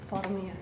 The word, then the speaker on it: Formia: Formia, sí, sí. ¿Lleva acento? No lleva acento, pero se pronuncia con el tilde, sí.